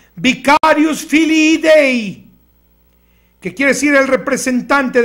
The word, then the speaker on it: Vicarius Filii Dei: En latín se pronuncia Vicarius Filii Dei, que quiere decir el representante del Hijo de